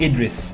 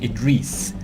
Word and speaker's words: Idris: I mean, it's not pronounced Idris. It's in Arabic. It's pronounced Idris. So it's like instead of the I, there would be EE. So it would be Idris.